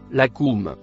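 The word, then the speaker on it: لكم: Le mot en vert se prononce la cou.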